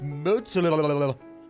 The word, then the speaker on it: Moza: Or Moza. I'm sorry. Moza. I don't need the comments going off on me saying, you didn't pronounce his name right. It's Moza.